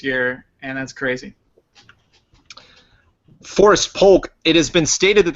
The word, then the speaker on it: Polk: chosen quickly and by Forrest hates it when you pronounce the L. Forrest Polk. Poke, yeah. Polk. You just pronounced the Polk. Poke. Polk. Poke. Like Hulk.